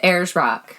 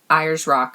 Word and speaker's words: Ayers Rock: rock wrong oh god what is it actually it that's what it is airs rock we were saying irish rock or something we were saying it wrong i don't know we